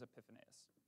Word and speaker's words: Epiphanius: of Alexandria and F I never say his name right Greek name Greek guy whose name starts with an e epiphaneous epiphanis his name is epiphanius and it says these